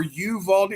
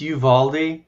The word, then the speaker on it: Uvalde: They pronounce it, as far as I understand, it's Uvalde. That's how they pronounce it on the news. So whether or not that's correct, I don't know, but that's the way I've heard it, Uvalde.